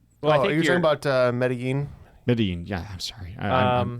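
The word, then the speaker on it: Medellín: um and um Med I know it's not pronounced Med Medallion but I know it's it's spelled almost like Medallion um um are you talking about uh medin medin yeah I'm sorry I'm awful with uh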